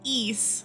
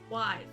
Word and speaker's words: Ys: you even say today it's pronounced ease like you're saying geese without the g and it's awesome yeah it's one of my favorite series now it's my favorite series as well wise wise no it's nice